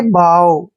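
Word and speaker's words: bough: ओ यू जी एच जब भी last में जी एच इकट्ठे आते हैं तो जी एच का उच्चारण हम नहीं करते हैं ठीक है और देखिए पढ़ना कैसे इस वर्ड को बी ओ यू जी एच को हम क्या पढ़ेंगे बाव बाव पढ़ना है इसको बफ नहीं पढ़ना है बग भी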